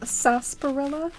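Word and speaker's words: sarsaparilla: too cheers to that I think it's pronounced sasparilla spelled weirdly oh yeah so it's like one of those words where they like added a syllable that's like invisible when you say it that makes sense um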